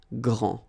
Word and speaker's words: grand: you don't pronounce the final D, you don't the D here, and you don't pronounce the final S. Okay, so grand, and then same thing here, grand.